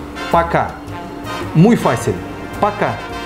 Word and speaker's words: Пока: Adiós en ruso suena así. Пока. Muy fácil. Пока. Пока.